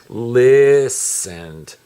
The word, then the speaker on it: listened: the T do you it's a silent T so when you see the word you just don't pay any attention to the T you just say listened but if you had